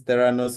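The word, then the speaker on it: Theranos: and thank you so yes tanos is the pronunciation that's very correct and just as a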